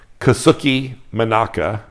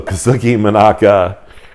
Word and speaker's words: Kazuki Monaka: yeah so the um kasuki menaka my wife and I I we were making fun of me because I was mispronouncing one of the words earlier so Kazuki monaka is how you say that um this particular knife